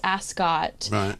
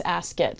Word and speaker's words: Ascot: people have told me it's Ascot and then um rert Bell told me it's askit so I say as do you have an opinion okay I say askar yeah but I don't know we say it right so you know I